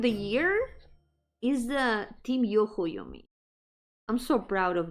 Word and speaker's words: Yo-hooo: Actually, it's pronounced Yo-hooo.